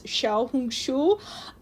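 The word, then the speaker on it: 小红书: The Chinese pronunciation is Xiaohongshu.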